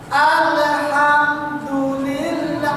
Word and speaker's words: Alhamdulillah: kita sering mengqolqolahkan huruf yang bukan qqalah Bagaimana cara baca mengqalqalahkan huruf yang bukan Qalqalah alham Alhamdulillah menggeret bacaan hukumnya haram maka kita harus tegas